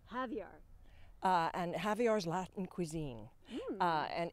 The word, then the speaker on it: Javier: How do you pronounce his name? Javier. Javier.